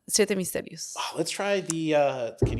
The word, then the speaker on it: Siete Misterios: Do you want this one or would you like Siete Misterios? Oh, let's try the can you teach me how to pronounce that better though? That's Siete. Siete Yeah. Misterios. Siete Misterios. Yeah, you got it.